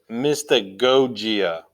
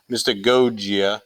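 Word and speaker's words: mystagogia: two g's in there the first g sounds like a hard g and then the second g sounds like a j that's a little confusing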